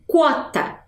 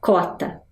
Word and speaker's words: quota: pronúncia dessa palavra então eu digo quota Mas eu também posso falar cota né a cota quer